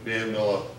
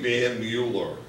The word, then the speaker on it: Mueller: I mean, Van Miller, it's by the way, if you want, it's really Van Mueller, but that's the way it's spelled.